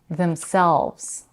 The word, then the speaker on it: themselves: Themselves. The first syllable in the compound reflexive pronoun is also reduced to them, and the stress is on selves, themselves.